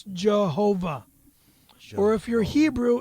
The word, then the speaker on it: Jehovah: Pronounce God's name correctly. It's Jehovah.